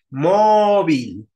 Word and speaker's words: móvil: Alin Cuéntame Amanda móvil móvil es grave Sí porque tiene la tónica en la penúltima donde tiene que tenerla